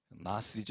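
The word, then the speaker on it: Gnosis: 여러분 혹시 들어보셨을 거에요 그 나 씨즈 혹은 쥐가 묵음 이라 그 맛에 지금 이라고도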